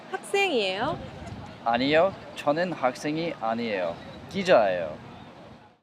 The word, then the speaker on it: 학생이에요: Let's take a look at the pronunciation. 학생이에요. is pronounced 학생이에요. There is a final consonant 기억 in and this final consonant temporarily holds the sound and breaks it in order to make a sound. Thus the syllable that follows is impacted. The생 is pronounced in a strong sound like 학생.